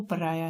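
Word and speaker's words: pariah: इसकी जो प्रोनाउंसिएशन है वो पराया है। सामाजिक बहिष्कार, social outcast, leopard, reject, cast away. पराया को हमने पराया से ही रिलेट कर लिया, जो हिंदी का वर्ड है पराया।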